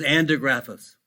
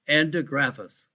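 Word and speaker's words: andrographis: common natural medicines or herb or botanical is andergraphas i'll spell that a like apple n like nancy b like david r o g like george r.a.p like paul or peter h-i-s endographis in fact i wrote a book on anti-gravis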